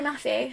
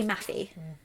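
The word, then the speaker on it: Mafi: got name please Perry mafew thank you or mayy I've heard it pronounced both ways but on the audible said Ma on the audible books for her other books I've got they say mafy so this is the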